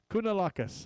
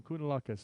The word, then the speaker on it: Kounalakis: Kounalakis, all right. Kounalakis. Sounds like a good Greek meal there. Kounalakis. Let's engage and have some Kounalakis.